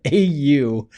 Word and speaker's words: Au: It was Dr. Au, A-U, pronounced Au.